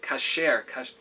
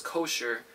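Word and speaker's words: כשר: Kasher. What's pronounced in the world as kosher is really the word kasher.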